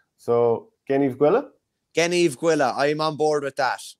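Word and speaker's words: Gneeveguilla: Gen, hard G like good, Eve like Adam and Eve, and Gwilla, another hard G. So, Gen Eve Gwilla, I'm on board with that.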